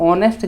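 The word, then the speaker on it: honest: इसको पढ़ा तो ऑनेस्ट जाता है ना। ऑनेस्ट अगर पढ़ा जा रहा है तो पहला अक्षर तो ओ है ना, ओ है यानी आंसर एन होगा।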